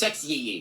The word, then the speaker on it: Sexyy: Sexy is spelled with two Y's. I don't know what the second Y adds to the pronunciation. It's Sexyy.